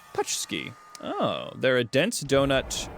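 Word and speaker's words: pączki: It's Polish pronounced pouchky.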